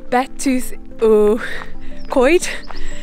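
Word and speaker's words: Betws-y-Coed: over to, I'm trying to remember how you pronounce it, it's Betws Y Coed.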